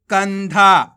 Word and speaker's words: कंधा: का में अनुस्वार की मात्रा कन, का में कौन सी मात्रा है अनुस्वार की मात्रा। तो कैसे पढ़ेंगे अपन, का को कन, धामा की मात्रा धा तो मिलके बन जाएगा कंधा।